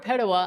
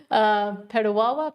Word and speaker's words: Petawawa: Jesse DB says, I was in Petawawa. Petawawa? Yeah. I think it's Petawawa. But it has two W's. Okay, Petawawa. Petawawa or Petawa?